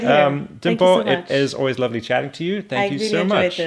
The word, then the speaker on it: Limpho: on Instagram at just Dimpho. I think you're gonna have to put a little scroll. Yeah. Because I have a trap name. It's not spelled how it's pronounced. Yeah, the L and the D.